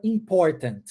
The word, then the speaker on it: important: Eu engulo esse T, ó. Important. Às vezes eu engulo o segundo também.